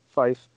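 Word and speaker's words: Fiffe: it's a fella m-i-c-h-e-l i'm guessing he pronounces it michelle fife and uh the interview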